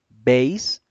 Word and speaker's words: base: La B la pronunciamos uniendo los dos labios, es un sonido bilabial, B, mientras que la V es un sonido labiodental, es decir, vamos a unir los dientes superiores con el labio inferior.